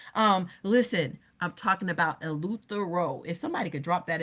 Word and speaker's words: Eleuthera: Um listen, I'm talking about Eleuthera. If somebody could drop that in the chat. I'll spell it out. E L E U T H E R A O.